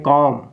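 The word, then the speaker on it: comb: बताइए इसको जब रीडिंग करेंगे आप तो पढ़ेंगे कॉम क्या है कम ठीक है ना कॉम मींस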